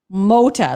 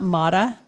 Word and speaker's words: Mota: Okay, has said Meredith, it's not a big deal, but it's pronounced Mota, like mow the grass. So it's Mota, not Mata.